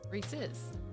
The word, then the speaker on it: Reese's: Reese. Apostrophe S. Reese's.